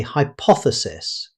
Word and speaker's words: hypothesis: Most native speakers say hypothesis. Notice that the stress is not on the first syllable. The strongest syllable is poth.